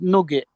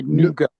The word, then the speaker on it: nougat: Do you have nugget, or as it is pronounced properly, nougat?